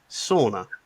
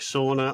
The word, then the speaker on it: sauna: I got corrected heavily and Denise can attest to this recently at an event that Enfuse held where I kept saying sauna. You know, finishing you go for a sauna. I prefer a steamer personally, but sauna and Monica Denise's co-founder co-CEO corrected me to such at